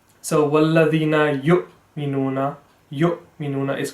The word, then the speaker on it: يُؤْمِنُونَ: So it's supposed to be yu because the hamza over there has the same properties as an alif, but because it looks a bit like an ayn, some people pronounce it as an ayn, but that is incorrect.